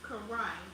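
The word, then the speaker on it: כרע: In Hebrew, leg is pronounced karai.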